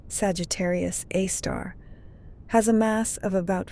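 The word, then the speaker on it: Sagittarius A*: The Milky Way's supermassive black hole, called Sagittarius A, pronounced Sagittarius A star, has a mass of about 4 million suns.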